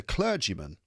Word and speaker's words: clergyman: There was that he was at this moment disguised as a clergyman. Clergy cler. That vowel sound is one you'll find in words such as bird church word clergy clergyman.